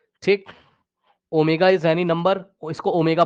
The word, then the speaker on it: ω: Omega is any number.